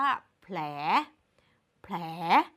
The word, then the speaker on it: แผล: คำ สุด ท้าย ค่ะ คำ นี้ อ่าน ว่า แผล แผล พยัญชนะ ควบ กล้ำ ของ คำ นี้ ก็ ต้อง เป็น ผ ล ค่ะ เพราะ มัน มี แค่ 2 ตัว นั่น เอง และ สุด ท้าย